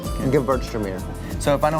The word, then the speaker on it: Gewürztraminer: If you take the W and pronounce it like a V, Gewürztraminer.